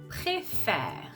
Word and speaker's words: préfère: So you can see here, you can even see that on my mouth, that I'm actually going to be opening the sound. So if we cut the word here, préfère. Pré, it's exactly the same. The last sound of the syllable, e. I'm going to be closing it. Faire. So here, the last sound is r. Okay? So same system as appel. We're going to open the sound to welcome the last consonant sound.